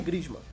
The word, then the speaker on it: Griezmann: Em nono, o francês Antoine Griezmann. Pô, pera aí, tem que saber pronunciar o nome dele certinho.